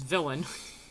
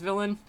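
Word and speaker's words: Villein: trapped here, and that the Valine, which he pronounces villain, so I guess it's villain, that one race of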